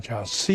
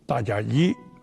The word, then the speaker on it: 迦葉: Son nom se prononce normalement "Jiashe" (迦葉). Mais à la place, il lut "Jiaye" simplement parce que personne ne lui a appris.